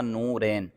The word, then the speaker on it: نورین: اس کا مطلب تھا یہ صحیح تلفظ اس کا تھا نورین۔ نورین یہ نور کی